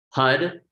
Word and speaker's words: Har: Hud is that sound of creation. It's spelled H-A-R, but again, it's like a rolling R.